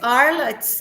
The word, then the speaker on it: Arles: Arles pala Oh, pronunciation. yeah, it's because it's Arles.